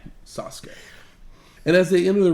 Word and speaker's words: Sasuke: American I'm going to go with the correct pronunciation Sasuke and as they enter the ring we see